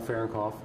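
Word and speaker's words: Farrenkopf: Say your name and spell it for the camera. My name is Fahrenkopf.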